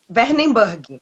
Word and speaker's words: Wernenburg: aqui pode ficar tranquilo como é que pronuncia esse nome de alemã e é werneburg meu nome é